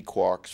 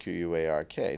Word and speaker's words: quark: so I spelled it quar K now Joyce undoubtedly meant it to be pronounced quark because it goes with bark and hark and mark and so on but but I figured